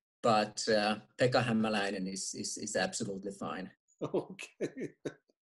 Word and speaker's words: Hämäläinen: heard everything so uh it's himalayan pekka pekka hamelina actually in finnish it would be pekka himalayan but uh pekka himalayan is is absolutely fine